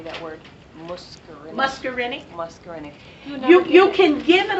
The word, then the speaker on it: muscarinic: I'm sorry how do you say that word muscarinic muscarinic you can give it a loan when